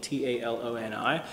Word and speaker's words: Taloni: So like this one's called Taloni, T-A-L-O-N-I.